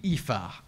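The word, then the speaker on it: Aoife: note on o here it's meant to be epha a o i f e and so it's a name like it it's already somewhat difficult name to pronounce but when they went with it they didn't put the a in due to how like would pronounce in Japanese and it has just turned inexorably into o and it has annoyed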